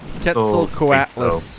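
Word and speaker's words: Quetzalcoatlus: a bird of paradise called a Kel now K coatless is the way you pronounce that name parasaur olaus oh I was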